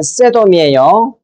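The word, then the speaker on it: סדום: 어이 말씀 소돔이란 말은 원어대로 발음하면 세돔이에요.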